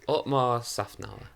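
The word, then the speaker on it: Otmar Szafnauer: No, Otmar Safnauer.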